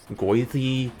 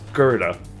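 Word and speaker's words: Goethe: Maybe goer. Um, goethi. Um, no, it's actually pronounced gerta. Why is it pronounced gerta? Hell if I know. Apparently, it's a German thing.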